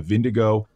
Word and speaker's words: Vingegaard: I'm listening to like Danish recordings of people saying the name. I'm switched over to Vingegaard.